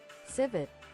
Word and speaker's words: civet: You have to pronounce the T. Civet. It's a civet.